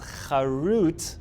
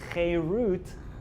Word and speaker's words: cherut: Do not read it as charut, which means engraved. Rather, read it as cherut, which means freedom. Meaning, you want to know why the Torah chose to spell it with a taf? Because that actually has a double entendre. It has two meanings. Once you spell it with a taf, yes, it means engraved, but it also means freedom, cherut.